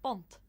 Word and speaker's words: punt: After 7, 8, 9, and 10, punt adopts a b and is pronounced bunt.